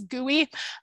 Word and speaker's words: GUI: graphical user interface or GUI, but mostly people pronounce this GUI, which I find completely charming. So you're more likely to hear someone call it a GUI, like a desktop GIS GUI.